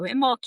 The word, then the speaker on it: Imbolc: Imbolc, and that's spelled Imbolc, or also traditional, it's Imbolg, Imbolc, but it's pronounced Imbolc.